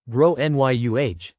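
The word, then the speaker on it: Gráinne: and I said well in Ireland they typically pronounce it like grow n Yu her face went red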